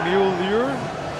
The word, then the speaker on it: Mueller: Uh Mueller should be Muer.